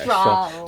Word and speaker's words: Strahl: Yeah, Strahl. So it's German. There we go. That's why I can't pronounce it. Yeah, Strahl Composite. So the H is silent.